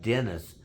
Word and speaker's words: Denis: But my name is spelled D N I S, just like Dennis, but with one N.